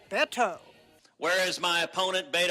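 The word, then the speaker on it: Beto: is Betsy overworked but his political foes delight in saying baito rather than bet oh where is my opponent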